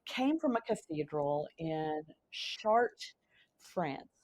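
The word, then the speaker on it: Chartres: different that exist came from a cathedral in chart France it's c h a r t r s pronounced shart France there's a cathedral there and it is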